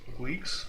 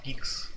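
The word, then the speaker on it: Guix: d2 clone kit on wix still or should i pronounce it geeks yeah i think so rotation let's check the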